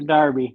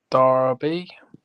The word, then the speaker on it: Derby: It's not the Derby, Russ. You guys call it the Kentucky Derby or the Derby? Darby. Darby, even though it's spelled Derby.